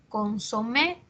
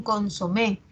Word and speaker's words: consomé: Por ejemplo, consomé es aguda. Las personas dicen un consomé, al margen de cómo se escriba, la pronunciación es aguda.